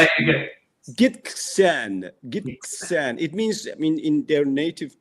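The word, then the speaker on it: Gitxsan: It took me 6 months to be able to pronounce that. Really? Yes. Can you say it again? Gisxtan. It means, in their native tongue, it means the people of the river. Oh, lovely. Gisxtan.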